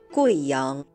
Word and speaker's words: Guiyang: In the name of this province and its capital, the U plus I is pronounced wei, not we. Listen. Guizhou, Guiyang.